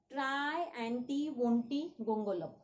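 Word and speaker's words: Triantiwontigongolope: Come on, say after me. Try, anti, wanti, gongolo. Try, anti, wanti, gongolo. Try, anti, wanti, gong, go, lo. Understood? In this way, you have to pronounce its name.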